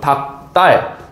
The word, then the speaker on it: 닭달: 똑같습니다 자 그다음에 아래쪽에 닭달 닭달 같은 경우에는 닭 딸이라고 발음이 되죠 닭딸 자 그럼 이거 어떻게